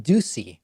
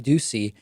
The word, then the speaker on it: Doocy: the entire time when you see Steve deucey deucey I always have to be careful to pronounce it correctly when you see co-hosts Steve Doocy and I believe it's Ainsley Earhardt they don't